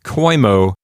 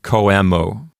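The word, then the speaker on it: coemo: So instead of koimo, you get koemo. And frankly, I don't know which syllable to put the accent on, because I've been told that sometimes the accent doesn't necessarily fall on the compounded syllable, the prepositional prefix syllable. So the question of what syllable gets the accent is really a lesser issue. The main issue at stake here is to not pronounce the O and the E as a diphthong.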